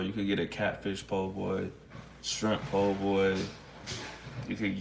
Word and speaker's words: po' boy: Po' boy, yeah, po' boy. It's like poor boy, but if you're from the south, you say po' boy, and so that's how it's spelled.